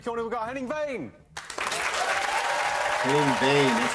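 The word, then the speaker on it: Henning Wehn: Henning Vane, that's how you say it.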